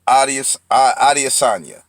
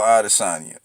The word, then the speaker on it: Adesanya: Israel Adesanya. I believe that's how you say his name.